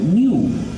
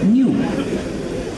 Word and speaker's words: GNU: hispanohablantes, cuando hablas español puedes pronunciarlo new, como si comenzara por ñ, lo que es también el nombre del mismo animal. Entonces, en español se pronuncia new, mucho más fácil.